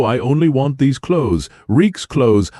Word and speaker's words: Reek: Reek's clothes. I'm Reek. It rhymes with peak.